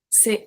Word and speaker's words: ces: We have C-E-S pronounced c'est.